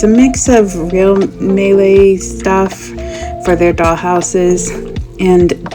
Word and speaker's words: Maileg: I guess you're supposed to pronounce it Maileg, I realized. I heard that online.